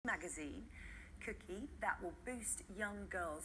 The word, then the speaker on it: KOOKIE: exactly will that include if I pronounced it right cookie when I was a preteen I was quite kooky but Vivian you're looking